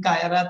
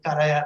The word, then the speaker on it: Kayarat: your last name uh instead of saying kyrat i said karaya so sorry about that